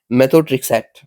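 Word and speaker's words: methotrexate: लीजिए कि भाई specially design माइक्रोफियर्स loaded with मेथोट्रेक्सेट, कैसे प्रोनाउंस करना चाहिए, मेथोट्रेक्सेट, yes that should be better.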